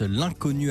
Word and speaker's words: L'unconnu: L'Inconnu, attention, ça s'écrit l'un L'-UN, connu, C-O-2-N-U.